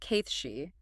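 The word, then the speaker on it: Cait Sidhe: Pronounced Kithshi, represented by Tibultt, who is the powerful king of cats, and his courtier Raj.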